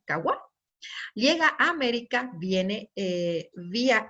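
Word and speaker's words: قهوة: La palabra café tiene su origen en el vocablo árabe kadwak, que se pronuncia kawa.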